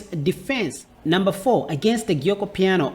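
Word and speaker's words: Giuoco Piano: number four against the gyoko piano or the joko piano as you pronounce it in the djoko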